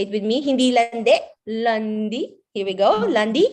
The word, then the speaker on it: lundi: Lundi. Here we go. Lundi. Lundi.